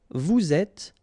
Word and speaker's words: vous êtes: Vous êtes, little liaison to between the two, and then final S not pronounced.